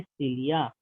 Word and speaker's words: cilia: Fine, इसी को हम लोग प्रोनाउंस करेंगे सिलिया, CILIA, सिलिया, है ना।